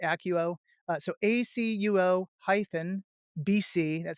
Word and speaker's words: ACUO: So my website is ACUO, I pronounce it ACUO, so ACUO hyphen BC, that stands for business consulting, .com.